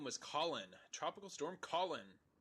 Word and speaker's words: Colin: Tropical Storm Colin. Which may or may have not been able to have been pronounced colon.